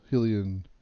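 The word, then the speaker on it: Hylian: nickname let's choose the helian hen Shield I was saying helan for years until I found out I was pronouncing it wrong enter a nickname for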